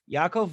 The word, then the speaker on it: Yaakov: Yaakov rhymes with alcove.